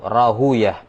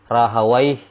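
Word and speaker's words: راهويه: Kalau ahli hadis membaca rahawaih, ya, sibawai, itu kiranya cara bacanya ahli hadis, dan mereka tidak punya landasan bacaan dalam hal ini. Yang benarnya adalah cara bacanya ahli lugo, ya, cara bacanya ahli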